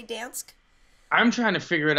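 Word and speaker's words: Gdańsk: Apparently, you're supposed to not really pronounce the G and say Gdansk. Supposedly, you're just supposed to say Dansk.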